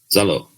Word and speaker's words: Zaalo: low get low but it's a short o zelo i'm going to wander down the streets of vegas tonight just yelling just honestly like picture butthole retracting and that's how you say my name it you just said